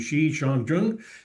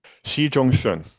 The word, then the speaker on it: Xi Zhongxun: It's a biography of a gentleman named Xi Zhongxun, the father of China's President Xi Jinping.